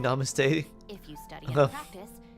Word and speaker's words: Namaste: way to pronounce it short a short A's ah okay Namaste okay I see so more like yeah more like 's rather than A's Namaste and not NuMe the more you know